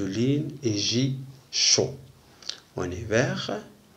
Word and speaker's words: hiver: En hiver. اون ايفر هاد الان تنسقوها مع الاي لان اش إليميت يعني لا تنطق.